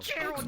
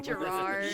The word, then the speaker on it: Gerard: Gerald, you mispronounce it every fucking time. Gerard.